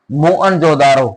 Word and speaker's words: मोहनजोदड़ो: एक तो पंजाब का हड़प्पा और एक सिंध का मोहनजोदड़ो, ये जो दो नगर थे वो बहुत प्रसिद्ध थे उस समय। मूल उच्चारण मोहनजोदारो, शाब्दिक अर्थ है प्रेतों का टीला।